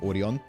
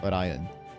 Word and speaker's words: Orion: Still, this Orion, you know, I I realized it's pronounced Orion. I've been pronouncing it the way that they pronounce it in anime, which is Orion in Japanese, but it's Orion.